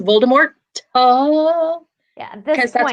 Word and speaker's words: Voldemort: um and then voldemort we've all been pronouncing voldemort wrong like it's supposed to be the french yeah it's like the t is not supposed to be yeah i'm like look look it's voldemort yeah because that's like